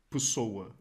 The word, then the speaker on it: Pessoa: Why am I saying Pessoa? Because I'm used to Spanish here, and they just sound like that. Actually, the pronunciation in Portuguese is Fernando Pessoa.